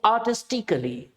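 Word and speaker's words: artistically: जैसे कि आर्टिस्टिकली, यानी कि सी और एल के बीच में आपका भैया जी ए हैं चुप, इनका कोई टोन नहीं है।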